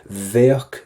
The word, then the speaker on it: bheadh: Pop the letter V at the start. Bheadh. And kind of a CK at the end.